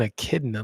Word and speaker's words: echidna: What does an echidna look like?